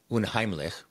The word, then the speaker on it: unheimlich: There's a German word for uncanny, which I'm going to pronounce badly, unheimlich, which means precisely unhomelike.